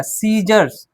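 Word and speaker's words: scissors: हमने कहा कि आई से पहले अगर सी रहता है, आई से पहले भी सी रहेगा तो भी सी क्या है, साइलेंट। तो यहाँ पे क्या हो जाएगा, सीजर्स, क्या हो जाएगा, सीजर्स,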